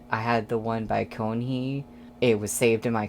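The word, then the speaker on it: Keonhee: And also a commenter told me that you don't pronounce the first E in Konhee. At least I think that's what they were saying. So I think it's Konhee and not Kyonhee.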